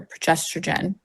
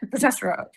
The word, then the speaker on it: progesterone: I don't know if you're experiencing that, but it's just or once your your progesterrogen I always say it wrong. It starts to drop. Me too. Yeah. Progesterone.